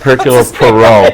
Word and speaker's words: Hercule Poirot: the character of her coat i can never pronounce I kept Hercule Poirot Hercule Poirot she loved them in books she